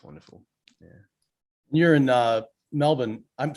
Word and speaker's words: Melbourne: Yeah, no, Melbourne is definitely the way that we pronounce it, or Melbs, or Yeah, Melbs, I think some people call it here, but Melbourne is we just don't use R at all unless it's at the